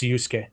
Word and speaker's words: Urus: just the way it is yeah technically it's Urus see but my personal annoyance is when people